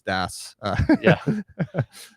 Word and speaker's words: DAS: So it's DAS.